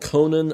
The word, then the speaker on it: Connan: And this is an album called Forever Dolphin Love by an artist called Conan Moccasin. And Conan is spelled Connan, and Moccasin is spelled Mockasin.